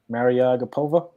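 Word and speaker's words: Mariya Agapova: you pronounce this young lady's name a man Maryellen Agra petha I think you just nailed it marry a gap ova yep it's become best friends where's my girl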